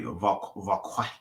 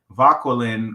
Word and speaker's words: Vauquelin: So in 1799, the French chemist Louis Vauquelin, probably Vauquelin, because he's French. You know, they pronounce it like nice and soft and fluffy and airy.